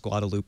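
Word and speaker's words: Guadalupe: know how to pronounce guadaloop I know how to pronounce manack um I I failed would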